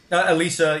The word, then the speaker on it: Elise: Is that, am I pronouncing her name right? Elise? Yeah. Elisa, yeah. There's Elisa? A French, yeah, but Elise is correct, yeah.